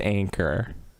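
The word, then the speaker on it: Anker: got an anchor which apparently it's anchor that's pronounced anchor anchor ergonomic vertical mouse which i'm gonna put on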